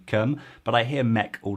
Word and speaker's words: keum: are starting their careers it's spelled with a ka presumably because if you put a c in front of e-u-m that sound would have to be pronounced like some and keeping the ku is crucial to them personally i